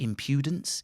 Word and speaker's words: impudence: It could be impudence, impudence. You can make a fucking dick of yourself. So I had to learn the diacritic alphabet to teach myself pronunciation of English. Impudence, first syllable, and then it's cognates.